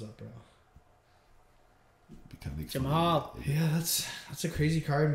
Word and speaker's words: Jamahal: No, it's Jamahal. You pronouncing things like Surrey does right now?